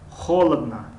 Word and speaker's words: холодно: байрақ, хорошо хуб, нағз, холодно ду ое ки дар охир аз инҳо а хонда мешавад, аммо ое ки ударение ҳаст, яъне аломати зада аст, пас вай о хонда мешавад.